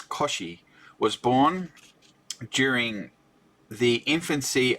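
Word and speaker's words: Cauchy: it was Augustine Louie coochi Augustine Louie coochi was born Koshi it's Koshi was born during the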